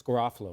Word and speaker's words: Garofalo: Is he saying it wrong, Mike? Is it Garofalo? It's Garofalo.